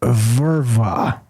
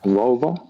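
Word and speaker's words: völva: There's something called a verva, or a vulva. Vulva. Vulva is how it's spelled. Supposedly, Sounds a bit verva. Yeah. Sounds a bit feminine. Yeah. Vulva. Exactly. Vulva. It's O with the dots on the top.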